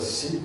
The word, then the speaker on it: Siep: Ritter, Siep, se pronuncia Siep, yo creo.